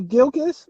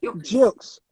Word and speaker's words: Gilkes: like that i don't so the promoters and the judges say gilkis but it's jokes it's pronounced with a j but spelled with a g jokes jokes but